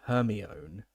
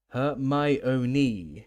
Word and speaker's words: Hermione: He kept calling her her own. Her my own, she said slowly and clearly.